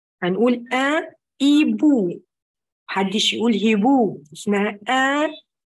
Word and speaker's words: un hibou: Le H dit ولاد silent, مش هنطقها. هنقول un hibou.